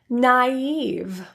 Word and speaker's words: naive: I I trast I you will really only see this in a couple words that are spelled with AI so let's take a